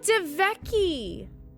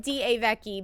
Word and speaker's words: DeVecchi: Oh, DeVecchi. I was saying it wrong. I was saying D-A-Vecchi, but it's DeVecchi.